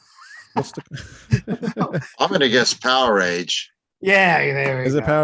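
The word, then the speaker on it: Powerage: or Power Rage? Power Age, actually. Power Age. Yeah, it's not Yeah. Power Age. It's Power Age. So No, the idiots for on all- that show, that metal show, pronounced it wrong.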